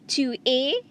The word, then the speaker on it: tu es: Next, you have tu es. Tu es. Again, like je suis. Tu es. The S at the end of the word a is silent.